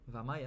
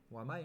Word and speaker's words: Wamai: Après, personne dit Wamai. Je veux dire, Wamai, ça n'existe pas. C'est Vamai, obligatoirement. Ah, c'est ça de prononcer Vamai. Bah, ça se prononce, c'est un W, ça se prononce Vamai, hein?